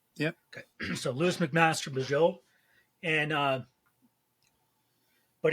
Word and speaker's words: Bujold: Okay, so Lois McMaster Bujold, and but it's got a lot of life,